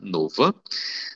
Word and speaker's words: nova: Olha a pronúncia do O fechado, nova.